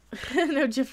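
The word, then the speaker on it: GIF: Trek how about that Jeff was the correct pronunciation that's what I say because I don't say I won't say guy into carafe you know I say I say Jeff and giant and giraffe that's a next-generation it's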